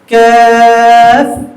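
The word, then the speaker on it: قاف: সাথে সাথে পড়া কফ কফ কাফ নয় কেমন ক জিহ্বা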